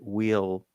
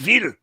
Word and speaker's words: Weil: Opinions on Shellman and Raymond Wheel Wild. I don't know this one. Raymond Weil. It's a German V, isn't it? Weil. Raymond Yeah, Weil. right. You shall pronounce it Weil.